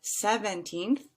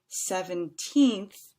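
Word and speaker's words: seventeenth: And then lastly, as an example, I have 17th, which has 3 syllables, and 70th has 4. So that teenth part, again, is going to sound a little bit longer than the second one. 17th versus 70th.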